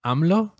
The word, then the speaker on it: AMLO: him amlo yeah which is a great name amlo amlo that's his name that's how you pronounce it well his name is Andres Manuel